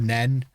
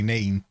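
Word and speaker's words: Nene: of the nean and calls it the nen we are going to talk about this guy a lot and it's definitely mean if you're from Northampton and you say it wrong grow up it's obviously neem right we didn't win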